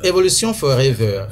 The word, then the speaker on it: Evolution Forever: C'est pas Forever, c'est Forever. Bon, Forever, parce que pour nous qui avons fait un peu Nigeria, c'est comme ça on prononce les trucs, hein, mais c'est Evolution Forever, la prononciation exacte. Ça peut aller, hein, Evolution Forever. Voilà, c'est la prononciation exacte en anglais.